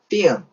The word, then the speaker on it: film: 사전상의 발음 기호는 역시 F-I-L-M이라고 되어 있지만 L 발음 있지 않습니다. 그냥 콧소리를 넣어서요. film이라고 했습니다. film.